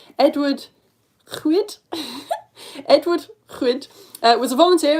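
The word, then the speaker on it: Lhuyd: Edward Chwyd.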